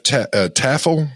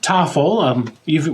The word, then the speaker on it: Toffel: President of the NAFTZ is Taffel or Taffel? Toffel. Rhymes with waffle.